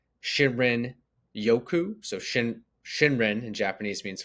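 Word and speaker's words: 森林浴: Probably won't say this right, but it's pronounced Shinrin Yoku.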